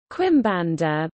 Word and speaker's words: Quimbanda: quim Bandar Portuguese pronunciation KBD is an afro-brazilian religion